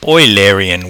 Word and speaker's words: Eulerian: looking at you Larry in walks or sometimes pronounced Alerian walks I'm gonna say you Larian because I think most students have just pronounced it phonetically although the guy was printed a guy was based on his is pronounced Euler apparently if some reason or other funny name anyway so let's call it Eulerian because I think 98% of students will pronounce it that way and it gets annoying